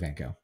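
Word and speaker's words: Van Gogh: van go um i' I've been saying van goof but I don't know whether that's presumptuous or not to pronounce it that way um I always grew up with vano in any case so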